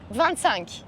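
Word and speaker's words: vingt-cinq: amazing how do you say 25 in French van sank there you go we're that so yeah we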